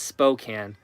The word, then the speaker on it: Spokane: spokane i've heard of that jordan says it's pronounced spokane it's about 150 miles west of lookout pass